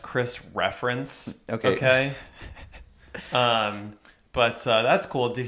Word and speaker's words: Chris Ference: just kidding um and by the way it's pronounced Chris reference okay but that's cool did he work a